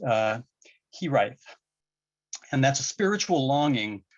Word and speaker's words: hiraeth: I will not pronounce this quite well, but I believe it is pronounced hiraeth.